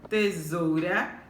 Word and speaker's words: tesoura: A palavra tesoura, tesoura, qual é a sílaba mais forte? Isso mesmo, zou. Então, é uma palavra paroxítona, tá?